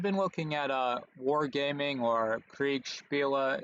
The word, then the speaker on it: Kriegsspiele: I've been looking at Wargaming or Kriegsspiele, if you want to pronounce it in the original German, and I really like